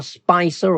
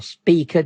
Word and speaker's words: Spica: And it's passing the star Spicer or Speaker, depending on how you want to pronounce it.